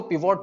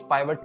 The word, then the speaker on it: pivot: कुछ लोग इसको पिवोट टेबल बोलते हैं, कुछ पाइवट टेबल बोलते हैं, दोनों ही सही है प्रोनाउंसिएशन में, जिसका मेन काम है